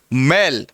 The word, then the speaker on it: मैल: हम लोग दोनों के उच्चारण को ठीक से ध्यान रखेंगे। हम लोग कोई जल्दबाजी में बहुत जल्दी पूरी व्याकरण करके और हम लोग कोर्स पूरा करना, ऐसा हमारा उद्देश्य नहीं है। वो जब उद्देश्य की बात होगी तब हम लोग उस गति में चलेंगे। फिलहाल तो हम लोग छोटी छोटी बातें समझने के लिए यहाँ आए हैं। तो इसका उच्चारण होता है मेल और इसका होता है मैल।